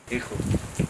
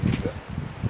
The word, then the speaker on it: Hugo: Hijo. Who? Hijo in Afrikaans, but you can call me Hugo.